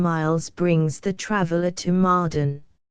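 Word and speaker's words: Mardan: brings the traveler to mden this place pronounced madane is the permanent station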